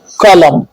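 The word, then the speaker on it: column: क्या है साइलेंट है एन साइलेंट एम के बाद आने वाला एन साइलेंट होता है एम के बाद आने वाला एन साइलेंट होता है जैसे टम कॉलम पी साइलेंट कब होता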